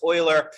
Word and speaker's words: Euler: That's pronounced Euler. It looks like Euler, but it's German. It's Euler.